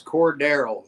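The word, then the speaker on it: Cordarrelle: Pronounce it. It's Cordero. You're like, Cordell's back this week.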